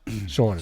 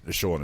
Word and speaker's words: Sean: A witness of the nudity say they've seen enough or Sean enough. Sure enough. Can be pronounced seen. It can be, yeah, Scene. okay, I think you're in my phone as seen. Yeah, it's SEAN.